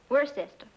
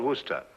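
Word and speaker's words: Worcester: But it's spelled W O R C E S T E R. We're sister. Oh, yes. I see. Yes. Lord Worster.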